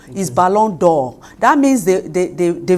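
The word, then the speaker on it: Ballon d'Or: balon the o is balon door that means the the the v is there are two vowels as e and o so when you cut the e pronunciation is balon it's a French word yes it's a French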